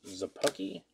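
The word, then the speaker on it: Szapucki: taylor there you go thomas zappocky that's how you would pronounce it uh very true vince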